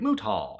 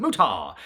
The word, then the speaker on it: Muta: He would every time pronounce it mutah. And you know, they eventually softened the T sound to make it muda as we all kind of generally call him that.